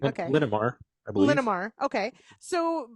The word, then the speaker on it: Linamar: in line uh for is it Lamar is that you say it linamar okay linamar I believe linar okay